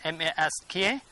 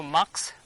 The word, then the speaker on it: mask: And then mask. People used to pronounce this one also max, but that one is incorrect, so we have to follow this one.